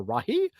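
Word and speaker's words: Rahe: h e like the Rahi uh the reason I did that is because somebody commented at one point that's like how I would pronounce it if I were Michael Jackson so there you go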